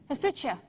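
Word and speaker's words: ἡσυχία: It is speaking of the wife, and the word being used is not this word, but phonetically it looks like this. Hesutia.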